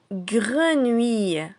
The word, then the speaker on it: grenouille: Vous avez ici le mot grenouille. Grenouille. Il comporte 300. Le gre de grenier, ou de vous et aille à la fin de taille. Grenouille.